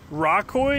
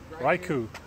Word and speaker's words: Raikou: Raikou? Is that how you say his name? Raikou? Raikou? Raikou.